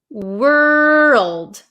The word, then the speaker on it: world: And we have the word world. World. World. So, make sure you pronounce that L.